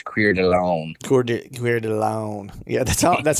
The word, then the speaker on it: Coeur d'Alene: lives not far from how do you say it coeur d'alene coeur d'alene coeur d'alene coeur d'alene uh your friends it's queered alone coordinated alone yeah that's